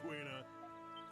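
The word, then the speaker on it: Quina: All right, settle down, Queena. Queena, apparently. Okay. Barnacles. His stogie. The Barnacles. I'm gonna say Kina because in FF9 it's pronounced Kina, so get over it.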